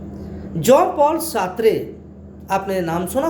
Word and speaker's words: Jean: तो John Paul सार्त्रे, जो हमने पहले बताया था, जीन होता है JEAN, जीन इंग्लिश में कहेंगे जीन जैक्स रूसो, लेकिन जब हम फ्रेंच भाषा में इसको प्रोनाउंस करेंगे तो उसको जॉन बनता है, जॉन, है ना।